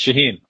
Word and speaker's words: Shaheen: I don't want to I don't want to mispronounce. It's all good. It's Shaheen. Shaheen.